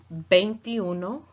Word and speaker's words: veintiuno: be incorrect in Spanish the V is pronounced more Bank you know almost as if as it was a B at the beginning so let's go over that one more time Bentiu no banty dos penty tres